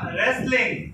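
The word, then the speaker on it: wrestling: রেসলিং কুস্তি খেলা হয় এখানেও কিন্তু double A silent letter double উচ্চারণ হবে না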